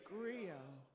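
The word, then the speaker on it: griot: in West Africa a Grio now you're GNA see that word spelled in different ways but the way it's usually spelled is g r i o t and you don't pronounce the T so agrio is a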